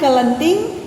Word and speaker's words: kelenting: Kalau diucapkan kelenting tapi biasanya ditulis nika anak-anak yen ing kasurat ditulis nika nggih Kelenting, seolah-olah E-nya hilang anak-anak. Langsung KL. Kelenting.